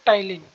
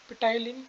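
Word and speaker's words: ptyalin: टाइलिन। टाइलिन की वो होती है PTYLIN, पिटाइलिन या टाइलिन, जो आपके मन मजा है, मतलब मन करे बोलने का, बोलते वैसे से टाइलिन है, पी साइलेंट होता है।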